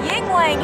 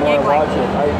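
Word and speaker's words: Yuengling: Dude, they have Yingling here.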